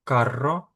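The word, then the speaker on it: carro: Як ви побачили, у нас є пара слів карро, карро. Тому треба відрізняти по вимові, щоб слухач, щоб той, хто чує вас, зрозумів, що ви мали на увазі. Карро - це віс, і каро - це дорогий.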